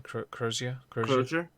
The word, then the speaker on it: Crozier: that earlier this week, Bret how do you pronounce his name again? Crozier?